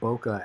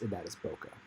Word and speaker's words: bokeh: And there's a lot of bokeh actually starting to happen on the water drops.